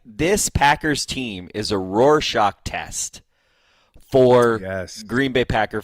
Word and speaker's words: Rorschach: Rorschach, I believe, is how it's pronounced, but you're close.